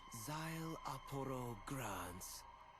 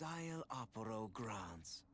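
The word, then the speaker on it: Szayelaporro Granz: But for you, my full name is simply pronounced Zyle Aporo Grans.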